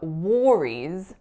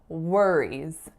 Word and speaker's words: worries: my saying no worries it's that vowel on the o.r in the second word so instead of worries I should be saying worries worries but of course the